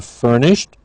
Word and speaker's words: furnished: you looking for a furnished or unfurnished place now bathroom not difficult living but notice again with furnished it's a t at the end for the Ed ending but again you would